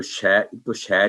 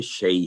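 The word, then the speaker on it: شيء: تو یہی جب تعوذ پڑھتے ہیں, اعوذ باللہ من الشیطان الرجیم, تو شے نہیں پڑھیں گے, شیء ہے, من الشیء.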